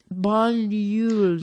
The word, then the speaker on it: Banyuls: And it turns out, so Banyuls. Banyuls. Don't think about how it's spelled. Just repeat. Banyuls. Banyuls. Yes, there you go. Banyuls. It's the spelling that's throwing you off.